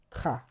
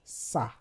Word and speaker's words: ça: For example, ça. Ordinarily, this would have been pronounced ca. But because of the accent, the cedille accent, it sounds ça.